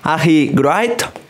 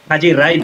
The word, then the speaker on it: Haji Wright: Bueno, y vamos con el último, que este no sé si es Ahi Wright. Haji Wright, sí. Bueno, aquí lo pronunciamos Haji Wright, es como le pronuncian en Estados Unidos.